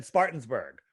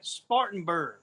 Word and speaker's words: Spartanburg: Well, first thing you got to do is learn how to say it. Spartanburg.